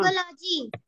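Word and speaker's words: psychology: साइकोलॉजी, अब यहाँ पर एस वाई है, साइकोलॉजी, यहाँ पर हम, यहाँ पर साइको, साइकोलॉजी, ठीक है।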